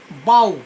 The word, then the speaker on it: bough: তো সেই রকম এখানেও কথাটা বলা হচ্ছে মিনিয়েচার বাউজ, BOUGH, বাউ উচ্চারণ হচ্ছে বাউ, BOUGH, বাউ।